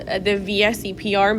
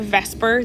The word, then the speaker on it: VSEPR: something that's called the vsepr model some people pronounce that as a vesper they like make it a word okay but it's an